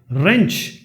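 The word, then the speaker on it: wrench: Silent W, जैसे टू, टी ओ, डब्ल्यू नहीं आ रहा है इसमें। रेंच, आर ई एन सी एच से ही बन सकता है।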